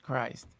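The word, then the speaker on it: Krist: And his last name is K R I S T, but he it's pronounced Christ.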